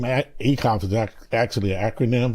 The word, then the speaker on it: ACCCOLPH: ACCCOLPH. ACCCOLPH. We nailed it. Walk us through what that mouthful is. ACCCOLPH basically is prostate cancer awareness 501c3 that I started after I defeated cancer. And the name ACCCOLPH is actually an acronym.